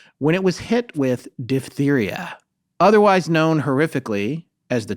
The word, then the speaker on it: diphtheria: And it's also unkind to me because it's diphtheria, not diphtheria, as we've been sometimes saying. So I've been saying it wrong My whole life. I've heard it kind of both ways in that vague way that you don't. I only heard it the dip way.